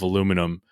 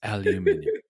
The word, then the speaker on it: aluminium: was aluminium instead of aluminum. And somebody's like, that's not how you say it. He goes, I'm saying it the correct way. It's aluminium.